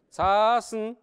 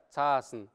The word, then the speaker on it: цасн: Цасн. Долгая А, да? Цасн.